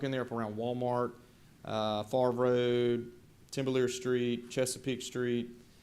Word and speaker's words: Favre: Would expand down beyond Lafitte Street all the way towards, is that pronounced Favor? Favre. It is Favre?